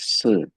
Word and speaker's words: shi: Yes, the first one Li, it pronounces Li. And then the second word is Si.